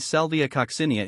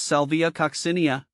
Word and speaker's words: Salvia coccinea: a sound cinia kosia the emphasis shifts to the second syllable here the the co is